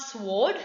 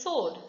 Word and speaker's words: sword: Sword, it is not sword, it is sword.